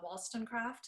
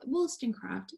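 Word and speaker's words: Wollstonecraft: this story of and i'm gonna pronounce her name wrong uh wallstonecraft is that how you say it yeah williston craft yeah okay i was like wow all of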